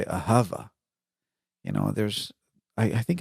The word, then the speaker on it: ahava: Or instead of ahava, you say ahava.